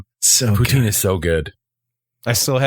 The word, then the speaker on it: poutine: I've never been, but apparently the best place to go is Montreal for poutine. Yeah, I've been to Montreal. That's the mecca of poutine.